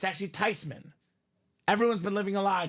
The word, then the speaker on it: Theismann: It's actually Theismann. Everyone's been living a lie, Dom. So proper pronunciation is not Joe Theismann, not Joe Theismann. It is Joe Theismann.